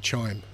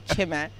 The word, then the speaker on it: Chime: Now, how many people pronounce it Chime? my mum. Oh, okay. I had to go to Nigeria to find out it's actually Chime.